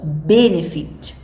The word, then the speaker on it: benefit: Nós não falamos benefit e nem benefit. Nós falamos benefit.